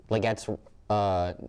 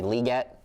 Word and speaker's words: Legette: And then when you flip it over, I've been saying Xavier Legette's name wrong this whole time. It's actually Legette.